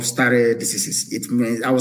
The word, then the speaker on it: stare decisis: It is called stare decisis. It means I will spell it for you.